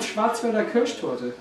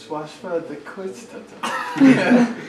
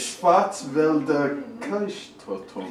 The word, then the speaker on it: Schwarzwälder Kirschtorte: It's called Schwarzwälder Kirschtorte. Schwarzwälder Kreuztorte. Almost. Maybe there's some sort of hint in that little book of yours. Schwarzwälder Kirschtorte. Yeah. Pretty good.